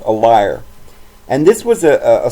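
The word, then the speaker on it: lyre: call it a liar it's kind of hard to pronounce that for me even though I know it's liar sometimes I want to call it Lear but this liar it's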